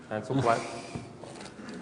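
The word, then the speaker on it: Handelsblad: Right here, earlier this year, in the Netherlands, this is the front page of NRC Hansel-Blad. Is my pronunciation correct? No. Hansel-Blad.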